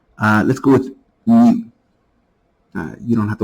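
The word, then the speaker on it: μ: but it's pronounced like mu like the sound the sound a cat makes I guess so that's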